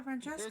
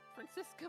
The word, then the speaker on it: Franziska: I always hear people call her Francesca. There's no C! Everyone keeps calling her Francesca. Franziska Von Karma.